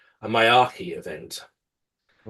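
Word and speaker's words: Miyake: Now, obviously, we haven't had anything really severe like a Mickey, hang on, I've got to pronounce this right, a Mayaki event.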